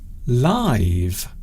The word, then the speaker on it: live: So in this sense, we are pronouncing this word as live, and we are using it as an adjective.